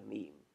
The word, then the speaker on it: meme: DNA and a meme I just coined the word meme as it doesn't exactly rhyme with gene vaguely similar to gene as the unit of